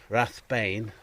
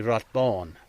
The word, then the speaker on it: Rathbane: We're going up to a place called Rathbane, and it's actually Rathbone, and Bone would probably be B-A fodder N, and an A fodder is an O sound, so it'd be Rathbone.